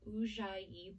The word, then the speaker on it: Ujjayi: its own style of breathing, which is called Ujjayi breath. It's Ujjayi, it's spelled, so Ujjayi breath.